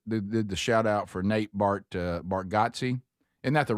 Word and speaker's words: Bargatze: that that that did the shout-out for Nate Bargatze. Isn't that the right way to say it? think it is. Bargatze?